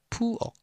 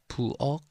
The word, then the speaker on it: 부엌: So when we were learning the consonant vowel, the ok, this is kiuk, but as I've told you, the pronunciation with as the kiok, the g is same. So pretty much 부엌, 부엌 sounds the same.